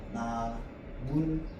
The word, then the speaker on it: 나뭇잎: 자, 이 상태에서 나뭇잎이 되려면 무슨 소리만 덧나면 돼? 니은 소리만 덧나면 되거든.